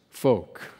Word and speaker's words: Fouke: who, according to my trusty Google pronunciation guide, is pronounced folk.